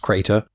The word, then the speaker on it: CR8R: CR8R, pronounced Crater, was there as well, my constant companion since I was a kid, and as cranky as the day he was activated.